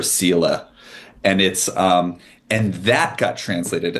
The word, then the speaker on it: Seele: but actually soul, which can't pronounce German, but I think it's seal or seele.